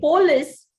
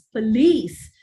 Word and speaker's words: police: have already discussed this when you say polis many people don't understand it's it's police police the accent is on the second syllable now whether it is